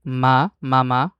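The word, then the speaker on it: ميم: সেটি হলো বাংলা যে আমরা ম বলি, মা, মামা, সেই হুবহু ময়ের উচ্চারণ। তো আরবিতে হরফটার নাম মিম।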